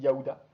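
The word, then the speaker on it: יהודה: Juda en hébreu, ça se dit Yaouda, mais c'est aussi un royaume. Et Yaouda étant une prononciation plus juste du terme hébreu.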